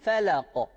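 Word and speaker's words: الفلق: Buradaki kaf harfinde sanki kef harfi gibi okunuyor bu kaf harfi. Özellikle buraya da dikkat etmemiz gerekiyor. Çünkü buradaki harf kaftır. Kef değildir. Yani hangi harf bu? Eko, inko, inko, ka, ki, ku. Kef değildir. Ke, ki, ku değildir. Onun için felako diye burayı düzeltiyoruz.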